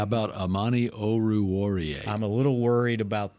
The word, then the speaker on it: Oruwariye: Oruwariye. Oruwariye. O-R. It's just like it's spelled.